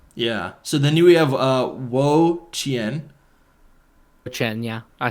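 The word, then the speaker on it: Wo-Chien: Oh, Wo Qian.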